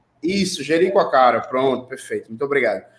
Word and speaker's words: Jericoacoara: Não sei se vocês viram, recentemente foi privatizado o parque o nome do lugar é muito difícil, Joaquacara, como é que é a pronúncia correta?